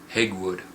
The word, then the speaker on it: Hegwood: it right here phonetically, Hegwood, H-E, so like egg, Hegwood, okay.